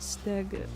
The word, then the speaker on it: Skig: Skig, pronounced Stig.